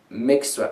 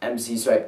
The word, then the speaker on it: MC Swipe: By the way, it's pronounced Mix Swipe. Oh, sorry, not MC Swipe. It's Mix Swipe 16.